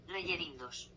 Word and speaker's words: Rellerindos: Okay, and how is it pronounced? Rellerindos.